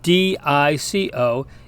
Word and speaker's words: dico: The long I, for instance, in classical Latin, sounds more like our long E, as for instance in our word seek. So this Latin word spelled D-I-C-O is pronounced dico, which means I say.